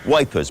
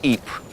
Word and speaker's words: Ypres: Wipers being how British troops mispronounced Ypres.